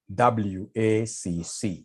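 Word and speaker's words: WACC: can somebody remind us here there's somebody who pronounced this as wakaka wakaka no is supposed to be wac to get wac we normally take the weight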